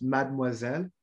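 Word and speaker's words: mademoiselle: of all it's pronounced mad moisen so we're gonna drop that e that's called right and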